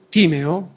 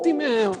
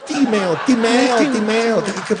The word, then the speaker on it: Timeo: Nel Timeo? No, Timeo. Quelli del classico ci mangiano, no, Timeo.